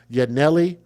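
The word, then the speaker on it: Yanelly: killing her 18-year-old sister, Yanelli, which is spelled Y A N E L L Y, like Yah, and then Nelly Solorio Rivera and her three-week old niece, Selene Cerio.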